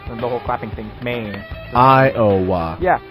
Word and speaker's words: Iowa: Iowa. Yeah. How ironic that our 4-letter state has 3 syllables. Iowa.